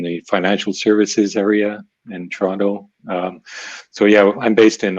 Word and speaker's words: Toronto: It's spelled Toronto, but we get lazy and say Toronto.